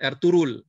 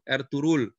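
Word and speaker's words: Ertuğrul: berhenti di eh makamnya erturul yang tulisannya ertugrul bacanya g-nya hilang R turul Gazi kan filmnya lagi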